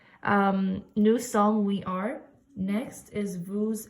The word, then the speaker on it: nous sommes: Okay, again, please don't pronounce the S. It's not nous sommes, it's just nous sommes.